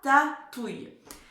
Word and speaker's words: ratatouille: C'est bon, je l'écris à mon tour, donc 3 syllabes. Rata, hyper facile, et touille, avec le son ouille. Pas de difficulté puisqu'on le connaît maintenant. Donc, R-A, ta, T-A, et touille, T-ouille, O-U, I-L-L et un E. Ratatouille.